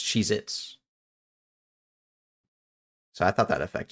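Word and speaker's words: Cheez-It: Yeah, but it's always pronounced like everyone pronounces it as multiple. Because you never just have one Cheez It. It's Cheez Its.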